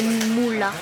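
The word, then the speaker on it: Muğla: En fait, ça s'écrit M-U-G-L-A, mais avec un accent. Le G, il y a un accent, donc ça fait Moula.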